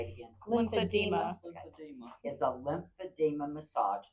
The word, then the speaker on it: lymphedema: And whoever said this, if you can correct me, is it lymphoderma? Lymphedema. There you go. Say it again. Lymphedema.